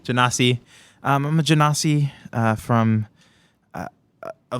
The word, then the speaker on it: Genasi: Genasi? Genasi.